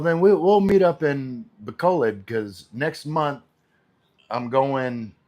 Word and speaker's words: Bacolod: I always say it wrong. Bacolod.